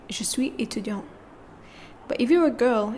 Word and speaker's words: étudiant: Je suis étudiant and je suis étudiante.